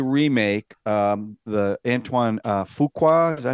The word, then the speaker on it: Fuqua: I've saw the Remake um the Antoine uh Fuqua is that how you pronounce it yep um uh I saw it